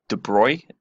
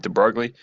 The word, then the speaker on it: de Broglie: something that's really important I call it the de Broglie wavelength but I think it was a French guy and I think it's Dubrow correctly pronounced but I'm gonna go with de Broglie so what we already